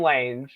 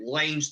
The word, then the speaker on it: Lange: i say lange yeah you said lanes the first time and it's lag oh lang i'm sorry anyway uh